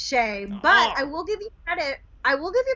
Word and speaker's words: Schoech: say your last name so it's pronounced shay but i will give